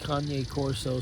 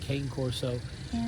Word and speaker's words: Cane Corso: people pronounce it uh kanye corso some people pronounce it cane corso um you just have